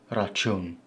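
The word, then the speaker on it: račun: Now these two C's, the one with the upside down boomerang on it, is a really hard ch sound that's not found in English. Ch, ch. It's a bit longer and thicker. Rachun, bill, like at a restaurant.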